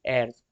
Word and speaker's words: heir: Territory without the natural years, यहाँ पे लिखा है दोस्तों HEIR, लेकिन उसको प्रोनाउंस किया जाता है एयर, were annex by the British.